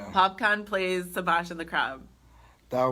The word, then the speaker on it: Popcaan: would be hilarious if Popkin is how you say it popcaan plays Sebastian the crab dar would be funny can you imagine I would love it mr.